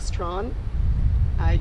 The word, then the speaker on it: Strachan: I have here with me her son, and is Strachan. Did I get that pronunciation right?